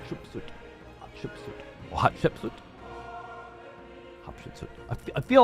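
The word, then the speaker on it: Hatshepsut: early periods of Egypt despite the name interesting pronounced hot sh suit hot sh suit hot sh suit hot ship suit hot I feel like I've heard it before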